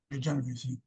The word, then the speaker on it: Genovese: Genovese.